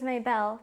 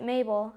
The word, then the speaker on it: May Bell: should I call you my name is May Bell but and that's what Jack calls me most people pronounce it Mabel and that's okay by me oh yes your dog